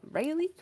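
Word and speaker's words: Raile: Yes, I can be called, or I can also be called Rayleigh. I actually never thought of how to pronounce it, but it's Yeah, R-A-I-L-E.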